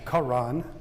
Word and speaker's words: Haran: We find Isaac's son Jacob in Haran. The Hebrews pronounce it Karan.